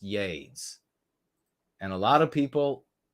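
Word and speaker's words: YeDS: power asking about yades it is capital Y lowercase e capital D capital s yays it's pronounced yays and a lot of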